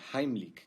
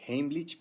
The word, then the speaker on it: Heimlich: vídeo la maniobra de heimlich que por cierto esa es la pronunciación correcta porque está en alemán la mayoría dice heimlich pero bueno se entiende